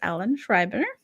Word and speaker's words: Schreiber: So, for our listeners and viewers that do not know, this is Ellen Schreiber. Hi. Am I saying that correct? Yes.